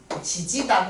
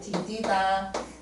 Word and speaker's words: 디디다: 그래서 요것도 하나의 형태소라서 D와 E가 만났어도 그냥 요것도 D디다 지지다 그러지 않고 디디다 요렇게 되는 거 이게 바로 국하예요.